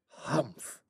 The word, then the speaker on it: humph: one he added reassuringly humph said the sand fairy if you read this story aloud please pronounce hump exactly as it is sp well that is how he said it hump do you know until